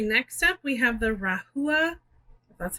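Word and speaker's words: Rahua: a try okay next up we have the rahula that's how you say it color shampoo and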